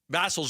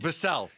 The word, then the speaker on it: Vassell: together a package that's, now, again, I think Vassal's a good player. I like him. Ooh, you were doing so good. Vassell.